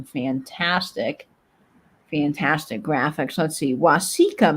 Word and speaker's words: Waseca: fantastic Graphics let's see Waseca Minnesota okay thank you for helping me pronounce that yes yes wasika okay thank you Vinnie I I mispronounced that completely which is very possible